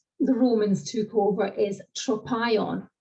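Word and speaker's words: τρόπαιον: So in Greek, it's spelt tau, rho, Omicron, acute, pi, alpha, iota, Omicron, mu, tropion.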